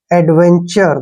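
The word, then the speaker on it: adventure: एडवेंचर तो ध्यान रखना जब भी टी के बाद यू आर ई आता है तो टी का उच्चारण च करते हैं एडवेंचर एडवेंचर क्या होता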